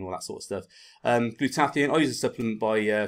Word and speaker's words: glutathione: And the other one I use as well is glutathione, or glutathione, if you want to pronounce it that way.